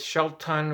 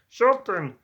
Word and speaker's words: Shelton: So just so you know, his name is not Sheldon with a D, it's Shelton with a T. A lot of people have mispronounced his name. Shelton, Shelton, Shelton the Shark.